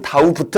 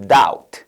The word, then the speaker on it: doubt: 의심 이러면서 이때 묵음 다우부트 아니고 doubt 그죠?